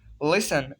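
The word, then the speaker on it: listen: लिसन, LISEN, लिसन। द टी is silent in this लिसन word.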